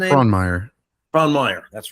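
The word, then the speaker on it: Frohnmayer: Fronmeer.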